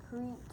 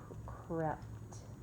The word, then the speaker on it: crept: Then the little mice creeped into No, this is, so it has a short E sound. creeped So, for short E, crept, crept.